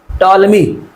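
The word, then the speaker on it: Ptolemy: T silent है। Toll मी ये जो पी है ये साइलेंट रखना है। पर टॉल मी नहीं बोलना। टॉलमी यानी पीस का साइलेंट है। बोलना नहीं है।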